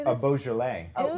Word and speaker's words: Beaujolais: Beaujolais. Oh, say it one more time. A Beaujolais.